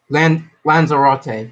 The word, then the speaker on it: Lanzarote: Lanzarote. Thank you. That's how you pronounce it.